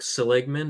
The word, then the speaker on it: Seligman: Yeah, I was watching a TED talk by Mark Seligman. Is that how you pronounce his name?